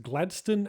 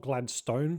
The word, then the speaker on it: Gladstone: Emphatically pronounced Gladstone and not Gladstone for any Americans watching, it's located on Gladstone Park Drive near the Tullamarine Freeway in the suburb of the same name.